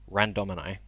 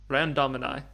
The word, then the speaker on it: Randomini: So how do you actually pronounce it? Randomini. Randomini.